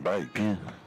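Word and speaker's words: van Beek: Logan Vanek here and that's how he pronounces his name so therefore that's how his name should be pronounced bake but he's from New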